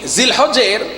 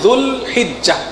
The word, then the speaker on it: জিলহজ: এই জিলহজের আরবি উচ্চারণ, সঠিক উচ্চারণ হচ্ছে যুলহিজ্জাহ।